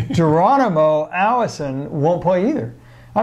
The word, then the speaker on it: Geronimo: Oh, and by the way, Geronimo, not pronounced Geronimo, Geronimo Allison won't play either.